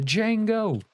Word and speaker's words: Django: The J is silent. The Django.